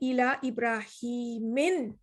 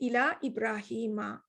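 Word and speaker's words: إلى إبراهيم: this is different so you're not going to say ila ibrahim you're going to say ila ibrahima okay so major case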